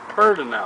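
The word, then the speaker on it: Pedernales: it's spell p e d e r we pronounced it perinel pel it means Shining Rock River it was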